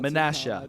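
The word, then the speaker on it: Menasha: Mifflin was crazy Masha yeah manasha manasha that's how you say it I was just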